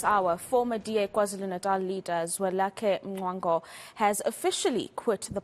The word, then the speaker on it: Zwakele: My name is Zwakele, just to correct the pronunciation of my name.